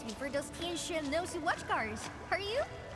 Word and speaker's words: Tianxia: You ain't gonna holler your baby names before those Tianxia nosy watch cars, are you? And see, she actually pronounces it Tianshi.